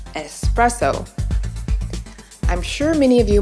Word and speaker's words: espresso: a bit less excusable many Americans make the mistake of adding an extra letter to this word which often leads them to say expresso instead of its proper pronunciation espresso proscription going to